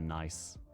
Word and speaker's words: Nice: Wonder if France calls certain beaches the nicest beaches because they're a nice could be I think in France they call it like n oh pronounced ni I got you.